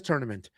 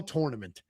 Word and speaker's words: tournament: Everybody says tournament. And I have the same argument with all of them. Spell the word tour. T-O-U-R. Spell tournament. That's the fucking word. It's that simple. You're saying it wrong.